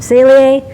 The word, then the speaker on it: Saleae: it's really aida with me mark garrison from celie now you know how to pronounce it thank you for watching this video